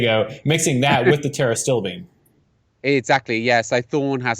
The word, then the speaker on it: pterostilbene: I think it's pronounced pterostilbene. Right. So it's got a P on the front of it that's silent.